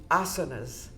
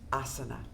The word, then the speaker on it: asana: Because that we do the yoga breath with with each of the asas. These are the the different movements. Uh, it's it's pronounced asana.